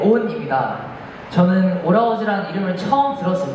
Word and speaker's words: ALL(H)OURS: 저는 오라우즈라는 이름을 처음 들었을 때 사실 조금 평범하다고 생각을 했거든요. 근데 저희 팀명 표기의 특이한 점이 이제 묵음 H가 중간에 있습니다.